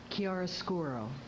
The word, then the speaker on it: chiaroscuro: Can you please pronounce that again? Chiaroscuro.